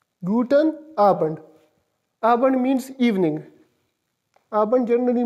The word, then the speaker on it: guten Abend: n a be e and D in it pronounced is guten abend guten abend r1 means evening abend generally means evening and